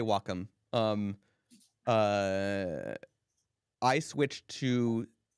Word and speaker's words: Wacom: or Wacom I say Wacom you because because I'm in Italy so that's how they that's how they would pronounce it so I I say I say Wacom um uh I switched